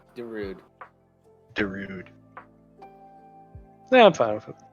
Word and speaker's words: Darude: in the hurricane uh dude don't rude yeah no the title should be Darude Darude yeah I'm fine